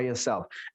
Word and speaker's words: yourself: You have to see by yourself. Ini bacanya itu L-nya nggak pernah dibaca, yourself. Ini bacanya adalah self. L-nya nggak dibaca, bacanya adalah self, bukan self.